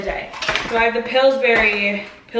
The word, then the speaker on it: Pillsbury: So I have the Pillsbury, because I say berry, but it's spelled burry. Pillsbury, but who wants to say that?